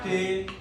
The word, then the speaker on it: dengue: Jadi dengue itu bacanya Ding.